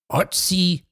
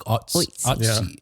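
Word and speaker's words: Ötzi: a 5,300-year-old man nicknamed Otzi the Iceman. Is that the official pronunciation? Yeah, it's not Otzi. It's like, I think so. You kind of swallow the so. O, like Otzi.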